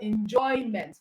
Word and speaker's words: enjoyment: Enjoy is also a verb, all right? So, and it's a two syllable word too. So you have enjoyment. It means the stress is on joy.